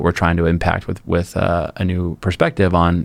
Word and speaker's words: Aneu: I mean, I have a podcast called A New Perspective, and it's spelled like ANEU, just like the same wheel.